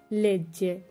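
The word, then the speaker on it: legge: আর বাকিগুলো তু লেজ্জি জয়ের মতো, লুই লেই লেজ্জে এখানেও জয়ের মতো, নই লেজ্জামো বই লেজ্জেতে এগুলো জয়ের মতো উচ্চারণ হয়েছে।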